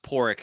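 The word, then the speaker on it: Pádraig: Yeah, it's pronounced Porrick because it's Irish.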